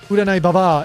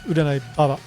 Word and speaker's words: Uranai Baba: Except in her case, it's not Uranai Baba, it's Uranai Baba. And it can be Baba or Baba. Either one is fine. They're both basically the same word, just different pronunciation.